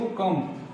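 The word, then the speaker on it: comb: हमारा कम लिखे कम लेकिन पढ़ते इसको कम इसमें क्या करते हैं बी को साइलेंट करते हैं बी को नहीं बोलते डायरेक्ट बोलते हैं कम कम मीस होता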